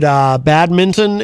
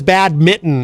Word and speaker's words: badminton: See, everyone says it wrong. Everyone says badminton. It's not mitten. You don't put it on your hand.